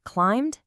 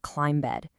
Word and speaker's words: climbed: That B at the end is completely silent. We say climbed absolutely not climb bed.